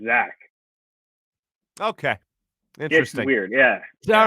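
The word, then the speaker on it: Zech: defensive lineman and uh zek is that how you say it zack mcfadden he he actually is pronounced zach okay interesting weird yeah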